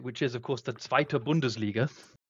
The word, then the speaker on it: Zweite Bundesliga: Well, first of all a uh schooling on how to pronounce it, which is of course the Zweite Bundesliga.